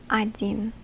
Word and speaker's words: один: next one as well, you will hear me say один, pronouncing this sound as not an O, but as an A. That is due to this portion of the word to be stressed.